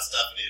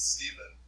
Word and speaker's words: Stephen: They responded and they were like, it's not Stephanie, it's Stephen. Pronounced like, because it's like Stephan.